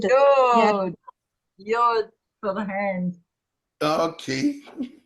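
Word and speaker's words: יוד: Then Yud. Yeah. Yod.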